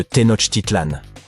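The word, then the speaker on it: Tenochtitlan: Il s'agit de Tenot Titlan. Les villes Maya ont généralement des noms difficiles à prononcer comme Yaak Shilan.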